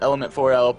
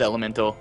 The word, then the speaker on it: Element4l: some people know it element 4l but the proper pronunciation is elemental i asked that's true